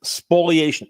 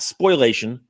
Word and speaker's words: spoliation: hurt my case it's called spoliation of evidence spoliation SP l i SPO not spoilation spoilation it's one of those things that people mispronounce pronounce misspell spoliation of evidence spoliation of